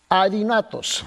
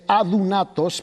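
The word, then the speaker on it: ἀδύνατος: Adinatos. ¿Okay? Ahora, en griego, mis hermanos, tú tienes que comprender que en griego esta palabra es adunatos, porque la Y se pronuncia doble O.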